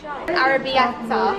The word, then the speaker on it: arrabbiata: Go on, pronounce it. Arrabbiata.